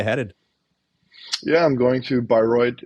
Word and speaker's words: Bayreuth: How do you pronounce the city again? Bayreuth.